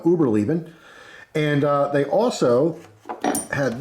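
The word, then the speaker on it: Überleben: brand called uberlieben uh I may be mispronouncing that it wouldn't be the first time I mispronounced something I'm gonna go with uh Uber leaving and uh they also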